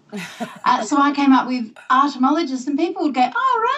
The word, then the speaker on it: artomologist: I want to talk to you about your self-defined job title of, I think I pronounce it this way. Is it artomologist? That's exactly correct.